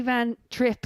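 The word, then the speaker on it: van Trijp: But yeah, Danny Van Trip, as we're now calling him, which is probably what I called him prior to knowing the pronunciation was Tripe anyway.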